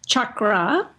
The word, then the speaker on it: chakra: are Shakra is okay uh the word is pronounced chakra and that word is a Sanskrit word comes